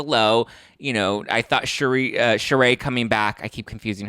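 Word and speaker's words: Sheree: you know I thought charay coming back I keep confusing her with Cherise Zampino because they're both spelled the exact same way but one's pronounced cherry and one's pronounced charay um but I thought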